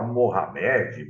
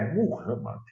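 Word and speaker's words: Muhammad: pronúncia é tudo né muita gente fala Mohamed Mohamed não é muhamma então foram essas coisas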